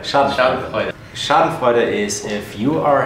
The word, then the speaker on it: Schadenfreude: Schadenfreude. Schadenfreude.